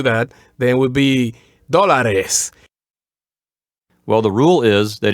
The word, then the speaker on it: dólares: So it would be pronounced dólares, and the accent would also be on the first syllable, on the o. So dólares.